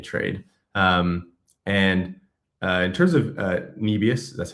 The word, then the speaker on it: Nebius: And in terms of Nebius, that's how you say it, it was fascinating to see like OSF and Mando, they both crushed this trade.